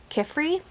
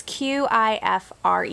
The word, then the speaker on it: Qifrey: I think his name is pronounced Kifrey. It's Qifrey.